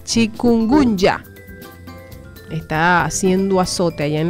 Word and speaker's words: chikungunya: Se llama chikungunya, se escribe con K, chikungunya.